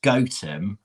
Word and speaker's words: Gotham: i'm staying tomorrow um she says it's pronounced goatem but it's spelt gotham it's g-o-t-h-a-m so generally